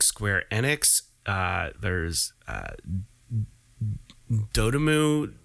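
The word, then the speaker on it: Dotemu: Enix uh there's uh dotamu dot emu detemu things that people don't know how to pronounce I can't stand it but it's d-o-t-e-m-u is the company that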